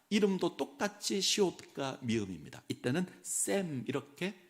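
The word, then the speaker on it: שֵׁם: 이때는 샘 이렇게 발음을 합니다.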